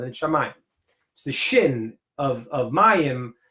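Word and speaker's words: שמים: where you see that Shamayim, because that's like the aleph is silent. Eshmayim. So the aleph is silent and Shamayim.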